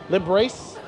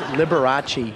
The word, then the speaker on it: Liberace: Can you pronounce this name? Librace? You know who this was? Liberace.